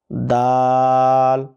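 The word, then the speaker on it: دال: হা, ha, খ, kho, খ, kho, দাল। dal, আবার কেউ ডাল বলেন না, দাল, dal, দাল।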